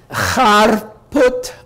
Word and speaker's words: Harput: The H in Armenian was guttural, Harput, but people couldn't pronounce it easily, so the spelling was retained even though the pronunciation wasn't. Well, in Harput, there was